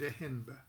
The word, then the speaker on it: Ehnb: His name is spelled E-H-N-B. We pronounced it Ehenba.